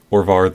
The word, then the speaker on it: Orvar: So the blue source is for Orval, what is it pronounced? Orvar, the All form.